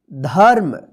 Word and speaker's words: धर्म: रेफ की मात्रा है तो इस रेफ की मात्रा का उच्चारण कब होगा ध के बाद आधा र होगा देखिए म पर नहीं होगा जिस अक्षर पर लिखा रहेगा उस अक्षर पर नहीं होगा उस अक्षर से पहले जो अक्षर रहेगा उसी अक्षर के बाद जो है ना आधा र का उच्चारण होता है ठीक है जैसे य देखिए इसको पढ़ेंगे धर्म देखिए यहां पे सु य